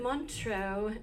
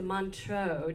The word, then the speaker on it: Montreux: She was a featured soloist in is it Montreux, even though it has an X in it? Is that how you say it? Okay. The Montreux Jazz Festival.